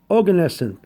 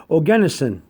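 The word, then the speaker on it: Oganesson: g a n e s s o n organesen okay or some people pronounce it organising so if you want to put plastic organism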